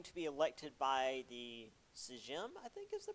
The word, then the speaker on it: Sejm: be elected by the Sejm, I think is the pronunciation. No, it wouldn't be a J. I've been missing this the entire time. It's in Poland, so the J would be a Y, Sejm.